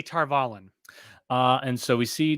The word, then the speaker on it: Tar Valon: uh tar uh tar how do they pronounce it tar volley they say tar valon they say in the audio books they say tarvalen uh and so we